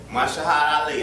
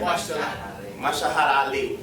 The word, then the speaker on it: Mahershala Ali: Mahershala Ali, absolutely, our brother, right?